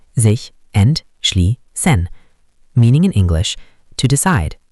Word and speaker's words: sich entschließen: Pronunciation, sich entschließen.